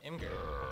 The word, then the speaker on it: Imgur: Yes, I pronounce it Imgur, so kill me.